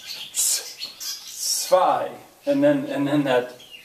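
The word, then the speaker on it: zwei: i think i yeah i told you the w will usually have the sound of a v sort of so that actually would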